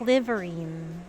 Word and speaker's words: Liverin: Anyway, so that's how you pronounce it, Liverine. So it's like it's really like delivery.